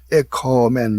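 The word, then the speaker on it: ἔχωμεν: 이런 가정법이기 돼 가지고서 에코멘 이렇게 길게 발음하면은 오메가 쓰면은 우리가 화평을 누리자 이렇게 되는 거예요.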